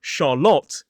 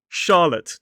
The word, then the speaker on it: Charlotte: So the R is silent in this word.